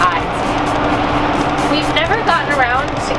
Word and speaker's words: Eide's: E-I-D-E-S. Yeah, it doesn't look like it's pronounced the way that it's spelled, but yeah, it's Eide's.